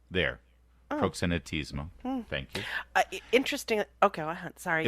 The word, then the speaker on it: proxenetismo: sure I I'm sure I didn't get the pronunciation right proxenetismo there proxenetismo thank you interesting okay sorry well that's that's